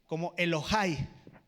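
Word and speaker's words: אֱלֹהַי: Y cuando hace referencia a mi Dios, en el hebreo original se pronuncia como Elohai.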